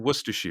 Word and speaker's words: Worcestershire: it i am in worcestershire thank you which is spelled were sisters yeah but it's it's like the sauce it's where they make worcestershire sauce so um i love